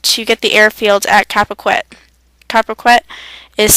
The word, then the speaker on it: Carpiquet: Juneau Beach was attacked to get the airfield at Capaquet. Capaquet is spelled CARPIQUET.